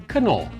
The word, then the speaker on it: Knorr: or if you want to say it right, Knorr.